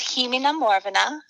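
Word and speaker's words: Chì Mi na Mòrbheanna: you told me uh so this one is Hina Morana which is an old Scottish song and and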